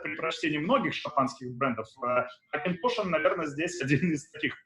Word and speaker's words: Auchentoshan: So it's pronounced Auchentoshan. So the ch is a bit, it's Celtic, it's Gaelic, of course. So it sounds a bit strange, but you can't miss it.